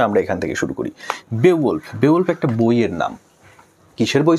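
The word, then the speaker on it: Beowulf: এটার উচ্চারণ যদিও আমরা বা টিচাররা বিউল্ফ বলে থাকি, বিউল্ফ, আসলে এটার সঠিক উচ্চারণ হচ্ছে বেওয়ুলফ, যেটা একটা বললেই হয় মানুষের নাম প্লাস একটা মহাকাব্যের নাম।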